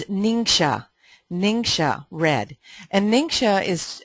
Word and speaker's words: NingXia: kids and adults alike so how do you pronounce it it's ninga ninga red and ninga is uh is found